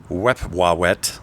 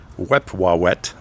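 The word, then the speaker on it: Wepwawet: tonight anyway his brother his name is wewa we wet I'm pretty sure I'm saying it right it was spelled let's see uh w p w a w t we wet this is another dude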